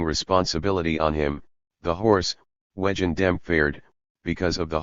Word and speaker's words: wegen: So Wegen means because of in German, but in Viennese pronunciation also sounds like wagon or cart, wagon.